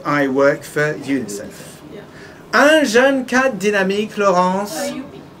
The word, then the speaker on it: UNICEF: It's not like I work for the UN. Because in that case, you have to pronounce the two letters.